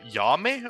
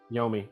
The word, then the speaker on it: Yomi: Did you say Yame or Yomi? Yomi, like Okay. Yomi. It's the same way it's spelled.